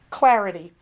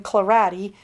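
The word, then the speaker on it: Clarady: one is a guy named thomas clarity and yes that's a horrible pun his name is spelled c-l-a-r-a-d-y and i had the kindle reading it to me and it was calling him clarati because it was the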